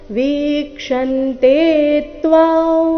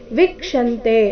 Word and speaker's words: ವೀಕ್ಷಂತೆ: ಗಂಧರ್ವ ಯಕ್ಷಾ ಸುರಸಿದ್ದ ಸಂಘ ವೀಕ್ಷಂತೆ ವಿಸ್ಮಿತಾಶ್ಚೈವ ಸರ್ವೇ ಇಲ್ಲಿ ವಿಕ್ಷಂತೆ ಅಂತ ಇಲ್ಲ ವೀಕ್ಷಂತೆ ಗಮನಿಸಬೇಕು ವಿ ದೀರ್ಘ ಇದೆ ವೀಕ್ಷನ್ ತೆತ್ವ ತೇತ್ವ ಅನುಸ್ವಾರದ